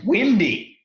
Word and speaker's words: Windy: My name's Windy. Don't call me Wendy. Oh, okay, Wendy. Windy. Oh. Yeah, I got it. I think I said it right. Windy. Like the weather.